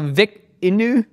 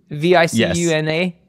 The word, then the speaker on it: Vicuna: Kieran mispronouncing things. Let's go. Okay, you know this model. So VICUNA, V-I-C-U-N-A, VICUNA.